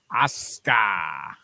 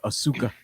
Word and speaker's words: Asuka: My thing is, I can never get over her name because I always want to say Asuka. Well, they don't pronounce U's in Japanese.